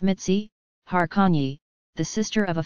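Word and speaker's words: Mici: In February 1934, he married his longtime girlfriend Augusta Maria Messi, pronounced Mitzi, Harkonyi, the sister of a friend.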